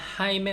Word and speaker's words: Jaime: Se llama Jaime usted. 우스테드가 이제 당신이잖아요. 당신 이름이 하이메입니까? 이런 거겠죠. 근데 하이메가 히읗도 나왔네요. 그럼 뭐 J죠. J-A-I-M-E 이렇게 해가지고 하이메라고 하고 하이메가 아닌가 봐요.